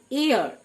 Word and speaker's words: heir: এয়ার, spelling HEIR, কিন্তু উচ্চারণ এয়ার মানে উত্তরাধিকারী।